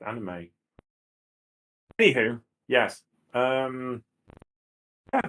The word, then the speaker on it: anime: They were afraid that American fans wouldn't understand that they don't have hard vowels in Japan. So therefore, it would be pronounced as anime.